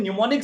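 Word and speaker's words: mnemonic: दोस्तों मैं आपको बताना चाहूंगा एक ऐसे साइंस के थ्रू जिसका नाम है न्यूमोनिक साइंस। अब दोस्तों नाम जैसे अटपटा, एम इसमें साइलेंट है, इसी तरह इसकी मीनिंग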